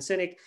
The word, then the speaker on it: Sinek: you to google him the last name is spelled s-i-n-e-k simon cynic and he has this